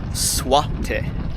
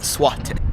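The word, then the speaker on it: złoty: That ticket price from the airport to here was 17 Polish zloty. I believe that's how you pronounce it, zloty.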